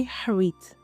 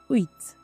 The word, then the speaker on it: huit: you don’t pronounce it there is no "h" sound at all you don’t say h-wit you just say uït now let’s look at